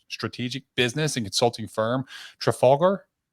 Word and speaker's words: Trafalgar: Memorial, she launched her strategic business and consulting firm, Trafalgar. Trafalgar? Is that how Yeah. it's pronounced?